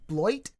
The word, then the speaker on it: Beloit: Someone said it sounds like the way you pronounce it is basically what sounds like it's the sound of a turd hitting the water or something like that.